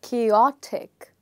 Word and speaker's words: chaotic: Okay, so as you can see that there are different letters here which are written in caps lock and those are OT. So you will say this as chaotic, chaotic. So what's happening is the stress in the word is changing from the first syllable to the second syllable.